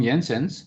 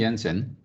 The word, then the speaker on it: Jensen: okay then uh from yensens so using ensign remember we don't say jensen okay we call it jensen because he was a dutch guy so j is silent there okay not silent but